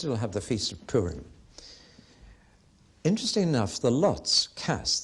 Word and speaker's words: Purim: r and the plural of that lots is Purim P you are i M if have you